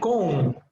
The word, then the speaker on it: comb: In the words comb and lamb, the B is silent, comb, lamb.